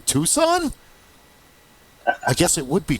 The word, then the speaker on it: Tucson: and how to pronounce You don't say tuxen. The first time I heard a far non-Amazonian say that, I was like, Tuxen? What do you mean Tucson?